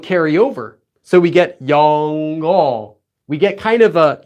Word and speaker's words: 영어: So we get 영어. We get kind of a 영어, right? Notice how the ng kind of flows over. 영어. It's not 영어, it's 영어.